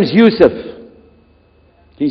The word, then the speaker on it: Yusuf: we'll work on it shalom my name is yusuf can you say you said youssef you're very good i wish you teach my wife she keeps mispronouncing it she calls me useless now how many of you were in the